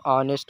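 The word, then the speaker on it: honest: लोग पढ़ते हैं लेकिन यहां पर एच साइलेंट रहता है इसमें तो इसको ऑनेस्ट पढ़ा जाएगा ऑनेस्ट ऑनेस्ट माने ईमानदार हिचकिचाना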